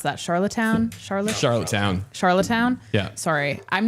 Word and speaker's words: Charlottetown: So obviously we don't have the audio for it because this just happened, but Charlatan, how do you pronounce that? Charlottetown?